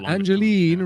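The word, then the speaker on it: Angeline: Thorn peg legs amazing angelene rhymes with green I'd love to hear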